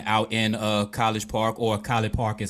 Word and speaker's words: College Park: She's running for City Council Ward 1 out in College Park, or College Park is how they say it out here. College Park.